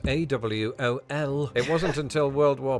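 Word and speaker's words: AWOL: more but it means absence without leave okay pronounced a wol l it wasn't until World War part two that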